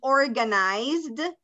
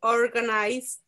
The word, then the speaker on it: organized: one more time he organized you don't pronounce the e so just pronounce the z and the d okay he organized his clothes by color